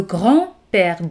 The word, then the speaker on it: grand-père: Le grand-père. D no se pronuncia.